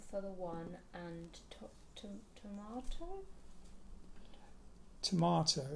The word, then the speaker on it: Tormato: Tomato. It's spelt Tormato because there was a rock formation in Devon called Yes Tor, T-O-R.